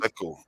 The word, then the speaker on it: Sako: Yes, Sako. That's how it's pronounced.